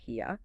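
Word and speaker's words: hiya: This involves haya, pronounced hyia, which relates to shame, embarrassment, maintaining dignity, and avoiding causing public humiliation for yourself or for others.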